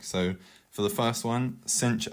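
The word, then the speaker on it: sinh: might look like so for the first one cinch X which can also be pronounced shine X it's up to you but I'll be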